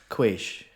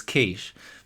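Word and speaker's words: quiche: me at least Kish I don't think quish no you're saying it wrong yeah it's kich but that was definitely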